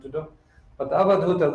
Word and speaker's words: Avadhuta: But Avadhuta, that word has 4 syllables: A, Va, Dhu, Ita, and Ta.